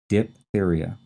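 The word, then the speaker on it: diphtheria: There's this silent h in there. And then t h e r i a. Diptheria.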